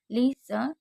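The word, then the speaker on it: listen: लिसन नो, क्योंकि T silent है। तो लिसन अगर कहीं पर भी होगा तो आपको टी को साइलेंट रखना है।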